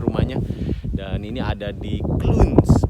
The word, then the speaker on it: Clunes: Dan ini ada di Clunes, bacanya Clunes, C-L-U-N-E-S, Clunes.